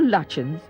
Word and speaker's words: Lutyens: Sir Edwin Lutyens, or Lutyens as it is sometimes pronounced, reputedly drew the inspiration for his Indo-Saracenic style from these palaces.